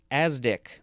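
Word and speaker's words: ASDIC: saw that etymology previously next we have azdick uh a-s-d-i-c that's how it's pronounced this is a noun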